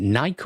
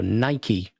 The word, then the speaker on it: Nike: produced uh is it Nike or Nike advert? I don't I'm never quite sure how to pronounce it. It's Nike. It's named after the goddess of victory, which is pronounced in the British fashion as Nike.